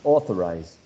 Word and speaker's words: authorize: interesting words uh authority authorized we can see in maria fernandez example a stress shift the word authorize authorize which is stressed in the first syllable uh the stress the